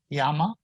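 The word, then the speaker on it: llama: same way in mexico yama that's how the double l is pronounced exactly like a y in with a tilde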